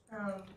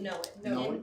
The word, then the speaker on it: Noen: I also go by Noen. What? No. Noen? Noen. N-O-E-N. It is spelled neon, it's neon spelled backwards.